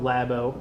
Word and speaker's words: Labo: So, I know, as dangerous as that could be, Nintendo announced their new big initiative called Nintendo Labo, pronunciation not entirely sure.